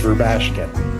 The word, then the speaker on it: Rubashkin: Please say your last name so I get it correct. It's Rubashkin. Rabashkin, thank you very much